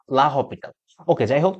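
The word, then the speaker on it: l'Hôpital: এটাকে অনেকে লা হসপিটাল রুল বলে, যেটা অ্যাকচুয়ালি গুগলের প্রোনাউন্সিয়েশন দেখে আমি যা দেখলাম, এটার অ্যাকচুয়াল প্রোনাউন্সিয়েশনটা হচ্ছে লা লা হপিটাল।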